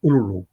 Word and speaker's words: Uluru: The correct pronunciation is not Uluru. It's more Uluru. That's how it should be pronounced. So all those who say Uluru, they're pronouncing it wrong.